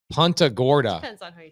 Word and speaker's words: Punta Gorda: gorda is that how you say it hunter punta gorda guys welcome to florida ponta gorda so sells you a duplex for 200 000